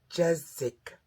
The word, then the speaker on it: Jeszeck: I say that because that's what Chris, and I think it's pronounced Jezik, says at the beginning of her videos.